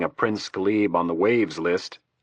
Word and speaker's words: WHAVS: I don't remember seeing a Prince Gibb on the waves list. WHAVS, pronounced waves, stood for White House Access Visitor System.